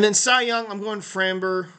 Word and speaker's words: Framber: show up and then sa young I'm going framber framber Valdez I think is how he pronounced his name of Houston really good picture